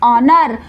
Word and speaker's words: honour: Next is ऑनर, यहाँ पर H silent है, स्पेलिंग होगी HONOUR ऑनर।